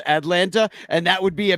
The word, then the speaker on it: Atlanta: the proper pronunciation of the word Atlanta, and that Boog has too much of a T in his Atlanta instead of Atlanta, and that would be a main topic of conversation throughout the entire fucking game?